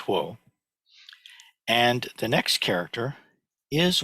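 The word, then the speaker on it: 火: It's a character for fire. It's pronounced huo.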